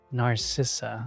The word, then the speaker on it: Narcissa: you pronounce that FL it's like I know it's like narciss it came from the word narcissist but you're always a strong one Narcissa okay it's Narcissa got